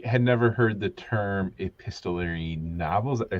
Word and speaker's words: epistolary: So I had never heard the term epistolary novels. Did I say it right? yeah, Or- epistolary, yeah.